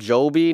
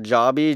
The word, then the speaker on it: Joby: First off, I think it's pronounced Joby, not Joby. Joby sounds a little weird, emphasis on the O in the Joby.